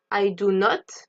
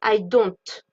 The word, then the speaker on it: don't: does not he doesn't attention à la prononciation on prononce bien le T d'accord le T n'est pas d'un lettre muette on ne dit pas i don non on dit I don't he does he does